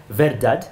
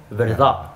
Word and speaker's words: verdad: To pronounce it, you don't say verdad, you say verdad.